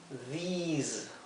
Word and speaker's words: these: a ver por qué Aquí lo he transcrito con doble i a di porque quiero que se pronuncie como una I larga this Okay mientras que este es una I corta this por eso aquí lo transcribí en verde con una I y aquí con dos is Cuando tenemos la terminación